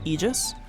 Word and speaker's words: aegis: I will say this as a Dota player, I hate that the the correct pronunciation of that word is egis. I hate it. Aegis is I don't know, it just sounds so much better.